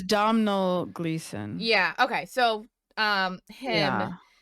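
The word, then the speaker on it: Domhnall Gleeson: Rachel McAdams yes um is it Donald gleon no it's I don't know his name it's spelled something all different oh it's domel gleon yeah okay so um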